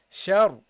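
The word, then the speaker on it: شر: this one, should be, you should read this heavily because it's non-voweled, and before this ra, there is a letter with a fatha. In that case, you should pronounce it heavily. So the first one is heavy. So you say sha, sha, shar, shar, okay? Shar. The sheen is not heavy.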